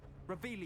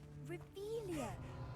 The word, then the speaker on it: Revelio: Revelius. You're saying it wrong. Ugh, Revelia. Much better.